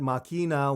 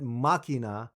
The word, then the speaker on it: Machina: I previously said Machina when I should have said Machina. I get it. I put the wrong emphasis on the wrong syllable.